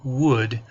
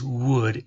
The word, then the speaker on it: would: In this case, the word would is, the L is silent. So it's pronounced differently than it looks, and it's a little difficult for some folks. but it is would, and it is pronounced the same way as the other word, would.